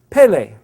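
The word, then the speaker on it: פלא: And it's pronounced Pele.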